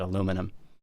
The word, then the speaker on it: aluminum: along this whole thing Americans just kept with the original and just said I don't nah no we're just going to keep it aluminum aluminum yeah it's so much